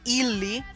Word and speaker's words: Illy: It's called Illy, like it's spelled.